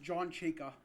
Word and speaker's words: Chayka: His name is pronounced John Chayka. Chayka. Chayka Khan. Oh, Chayka.